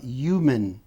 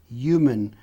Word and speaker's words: human: Aqui, pessoal, tem região dos Estados Unidos que ele não pronuncia o H. Eu já percebi que o Donald Trump, por exemplo, quando ele vai falar, ele nunca pronuncia o H.